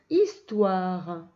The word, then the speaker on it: histoire: écrire histoire alors histoire il y à 1h muet au début ensuite on entend ici en suite toi ouah le wa tu te rappelles seo et y est rare et un e muet la fin histoire voilà maintenant on va